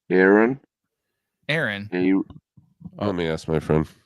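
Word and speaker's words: Eiran: Aaron. Aaron. Let me ask my friend. Here, Scruffy's got it. There you go. Like Aaron? Cashin. Probably. It's probably pronounced like AARON.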